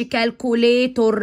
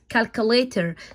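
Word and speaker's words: calculator: او ايه ما تنطقهوش يعني ما تقولش كالكوليتور نو نو نو كالكوليتر زي ايوز اكل انا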